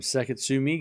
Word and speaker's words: Sakatsume: Cam, you should pronounce a hard E in the end of Sakatsume. Oh, Sakatsume. Is that right? Is that better? All right, 30-all here, Eala. As a return from Sakatsume goes into the front of Eala.